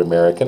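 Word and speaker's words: américain: I guess but um you have here americ again you don't say the N American you do say the N okay americ American now that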